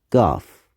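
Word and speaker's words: گاف: extra marking above and it's pronounced ge and it's called goff if a word has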